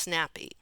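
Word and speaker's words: ngapi: sickening of all was the national food negape pronounced snappy i saw enough of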